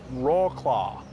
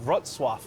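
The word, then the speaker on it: Wrocław: has a market even here we are in raw claw I'm gonna I'm gonna look up how to pronounce it first before I make a fool out of myself R RF we are in rwa interesting fourth largest city in Poland it's crazy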